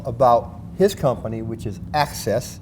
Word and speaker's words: Axes: his company, which is Access. It's spelled A-X-E-S, but pronounced like A-C-C-E-S-S.